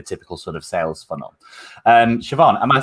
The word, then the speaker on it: Siobhan: I knew someone once, and I called them Sayaban for ages until I actually realised that I was saying it wrong. No, that's not how you say it in Ireland.